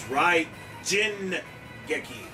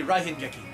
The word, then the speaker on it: Raijin Geki: It's Raijin Geki. Actually, Raihin Geki. No, in the Japanese language, it's Jin.